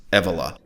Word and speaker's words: Evola: rhymes with ebola but sadly the name is pronounced julius evola here's a google engram chart showing you the